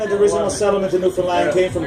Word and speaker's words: Newfoundland: And it's pronounced Newfoundland, not Newfoundland or Newfoundland.